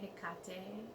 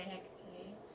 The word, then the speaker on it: Hecate: her head cocked a some people like to say Hickok day and I say Hecate because I'm American and Americans say Hecht a even though I like a cocktail also I like saying it that way and yeah anyway so